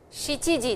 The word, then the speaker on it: shichi-ji: Shichiji desu. Hachiji desu. Kuji desu. Juji desu. Juichiji desu. Juniji desu. Please pronounce these two, yo and shichi, as is written over here, and not yon or shi or nana.